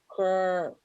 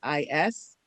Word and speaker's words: Coreopsis: Coreopus? It's like, I don't know how to pronounce that. It's Coreopsis.